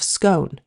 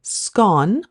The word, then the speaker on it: scone: First off, there is a question about the correct pronunciation of scone. It is pronounced differently depending on which area of Britain you are in, with the more northern regions favoring scone, rhyming with gone, middle of the country